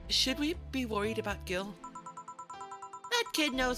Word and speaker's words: Gil: take care of himself oh it's pronounced Jill I keep I have to keep reminding myself it's pronounced Jill otherwise that Jill and Jill joke when Jamie enters and says heel wouldn't land otherwise okay we'll forever be